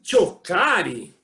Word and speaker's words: Cioccari: Choccari. É assim mesmo a pronúncia? Isso aí, acertou, tá bem no italiano.